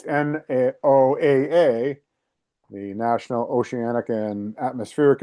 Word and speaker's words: NOAA: Agency that's in charge of monitoring so-called climate changes, literally, it's an acronym that is pronounced NOAA. It's NOAA, the National Oceanic and Atmospheric Administration, and yet